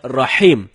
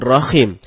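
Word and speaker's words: رَحِيم: ada sebagian kita membaca Rahim dengan Rahim. Ini merubah makna. Rahim artinya yang maha penyayang, sedangkan Rahim artinya maha merdu. Bacaan yang benarnya insya Allah dengan huruf H dalam tenggorokan. Jadinya Rahim, bukan Rahim.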